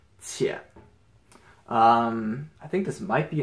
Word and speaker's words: 且: This is a character by itself, and this is pronounced 姐.